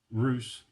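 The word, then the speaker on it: Русь: So Roose is pronounced Roose.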